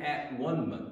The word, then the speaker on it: atonement: death was an atonement it was a an at one month you can pronounce it atonement at one month he